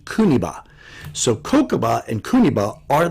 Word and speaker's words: Kuniba: Anyway, the kanji characters for Kosei Kokuba are Okinawan, and that's the Okinawan way of pronouncing it, but in Japanese it's pronounced Yukimori Kuniba.